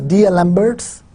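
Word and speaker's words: d'Alembert: this is called the Dalembert solution of the wave equation this is well known Dalembert solution of the wave equation it's written as D alembert's but we pronounce it as Dalembert Dalembert solution of the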